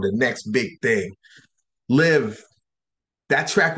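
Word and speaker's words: Liv.e: name is Liv, but it's spelled L-I-V period E. L-I-V dot E, but it's pronounced Liv.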